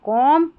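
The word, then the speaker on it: comb: जैसे देखिए कॉम B silent है।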